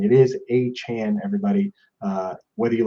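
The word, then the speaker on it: Achane: has done extensive research to find the correct pronunciation it is a Chan everybody uh whether you like it or not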